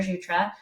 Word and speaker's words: Jutras: LinkedIn um just first and last name jutra the S is silent um it's a little tricky um you